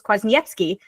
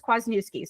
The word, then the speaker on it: Kwasniewski: And you actually pronounced it in the Polish way, which is quazyki. So you're right on brand. But if you're American or, you know, you don't speak Polish, it's Quasnuski.